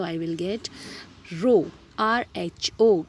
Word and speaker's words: rho: अब आपने ये भी पढ़ा है, अगर मैं इस प्रोपोर्शनैलिटी के साइन को हटा दूँ with a constant, so I will get रो RHO, ये भी पढ़ा हुआ है, रो L upon A, रो is called as RHO।